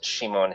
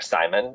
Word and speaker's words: Simon: One because it's by a painter named Shimon Heloi um or Simon if we want to pronounce it. Um uh in English um Shimon was the